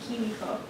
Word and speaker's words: Kimiko: My name is pronounced Kimiko. Say that loud, please. Kimiko. There's the I's are both E sounds because it's Japanese.